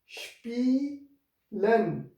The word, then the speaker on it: spielen: Spielen. So S P is sh. Here S will produce a sound like sh, and sp, this ea, spielen.